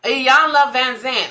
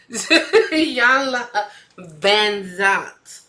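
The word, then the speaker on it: Iyanla Vanzant: Iyanla Van Zant. I'm trying to put a V in where no V was going. Iyanla Van Zant.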